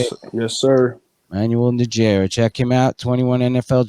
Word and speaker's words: Najera: Manuel Najera.